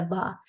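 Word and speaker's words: ب: So the ba is pronounced with the inner vertebral parts connecting between, and then the meme with the outer parts.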